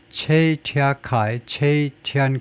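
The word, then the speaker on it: Cui Tiankai: 체이티안카이 왜 이걸 체이라고 읽느냐 봤더니 이 양반이 이제 최천계네요. 최천계. 그래서 이 최니까 중국 발음은 이거 꾸이가 아니고 체이다 이거죠. 체이티안카이 최천계라는 사람이 who served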